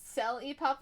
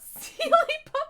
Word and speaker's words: Selly Puff: My name is pronounced Selly Puff, not Sealy Puff.